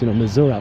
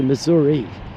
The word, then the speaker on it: Missouri: Harry Truman was born in Independence, Missouri, how they call it with a little twang from the Midwest, Missouri, but it's actually Missouri. It's an Indian tribe name.